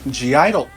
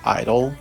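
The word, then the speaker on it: (G)I-DLE: and collaborations with real world artists like Zed G Idol gu GID Idol idol apparently it's pronounced Idol apparently you do not pronounce the J in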